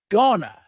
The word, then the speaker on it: gonna: Gonna is generally pronounced with the schwa, gonna.